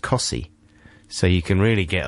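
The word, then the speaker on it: Costessey: There's another place very near Wymondham that's spelt Costessi, and it's pronounced Cossi.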